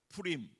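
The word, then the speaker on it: פורים: 근데 그걸 복수로 하면 부림이라고 그래요. 푸림.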